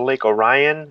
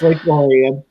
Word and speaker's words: Orion: I went over to Lake Orion," and it's like that's not how they pronounce it here. No, it's Lake Orion.